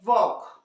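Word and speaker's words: walk: हैं की हम लोग नहीं क्या पढ़ते हैं वॉक उसी तरह से टी ए एल के इसे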